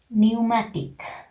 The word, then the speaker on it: pneumatic: of any words that together letter P comes together with letter N and letter T, in that case also P's sound is silent, we are not pronouncing, like tetrodictyl, pneumatic, pneumonia.